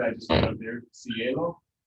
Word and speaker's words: cielo: I'll take another word I just put up there, cielo. Is it C? E or lo that gets the accent?